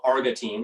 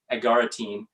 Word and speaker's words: agaritine: in mushrooms and art is called argatine or not pronounced right but agaritine one compound in isolate